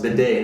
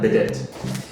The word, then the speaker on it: bidet: It's pronounced bidet, not bidet.